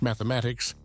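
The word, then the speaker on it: +–=÷×: his North American tour plus equal sign X pronounced mathematics which ran from Spring through September concluding in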